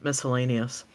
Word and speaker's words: miscellaneous: read it it says the sea is silent in miscellaneous I think I kind of sometimes say miscellaneous at times but U